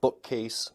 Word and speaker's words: bookcase: examples in English include bookcase Sunburn and redneck fun fact for you is that in English compounds Place primary stress on the first syllable so speakers will say bookcase rather than bookcase next is blending blending